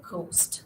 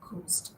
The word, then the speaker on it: ghost: Okay, so a lot of people say ghost, but it is not ghost, it is ghost. H is silent here, ghost.